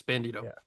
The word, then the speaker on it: Bandido: Number five, Brody Brody King and uh uh Bandido. Is that how you say his name? Bandido? Yes. Bandido.